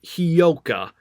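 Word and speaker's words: Hyouka: of the anime um it's oh sorry it's hioka and uh it's it's spelled and I'm telling you the I'm telling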